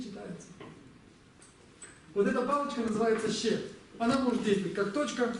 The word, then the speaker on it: ཤད: Есть так называемая ще. Ще. Записывается она вот так, смотрите. Ще. На самом деле как должно читаться? Шадр. Читается ще.